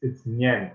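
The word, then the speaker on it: nián: unfortunately, yeah, the A is pronounced, yeah, it's nyen in this case.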